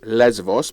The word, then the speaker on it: Lesbos: So, and it's pronounced Lesbos because that's how Greeks do it, baby.